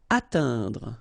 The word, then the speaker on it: atteindre: Atteindre. So remember when you combine this E-I-N together, you get the sound un.